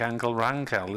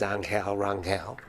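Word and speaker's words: Ángel Rangel: So Roberto Martinez, the manager who brought him over, is Spanish, so therefore he says Angel Rangel. But in Catalan, apparently the G is a hard G.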